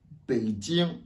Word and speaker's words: Beijing: Beijing. Vous voyez le J. Tiens. Vous voyez que la prononciation change.